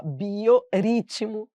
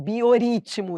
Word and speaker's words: biorritmo: ficar a pronúncia, ó, biorritmo. Se eu não dobrasse, as pessoas leriam bioritmo, ritmo.